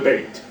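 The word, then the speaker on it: בֵּית: Bayit, when it's combined with the word David, changes the pronunciation from bayit to Beit.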